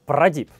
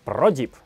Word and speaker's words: Prodipe: И правильно называть именно Prodip, потому что это французская фирма, я даже изучил их YouTube-канал, и правильно говорить Prodip.